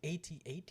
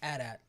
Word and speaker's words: AT-AT: record, it is not pronounced AT-AT. It's AT-AT. I know it's AT-AT. That's how they pronounce it in the. It's how they said it in the movie.